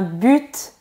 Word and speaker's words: but: Si on prononce pas le T. Je dirais un but. Très bien. Mais est-ce qu'on peut dire un but? Je sais pas. Je dis but. Oui, tu as raison, mais on peut aussi dire un but. Ah, ok. Donc, la prononciation du T est facultative.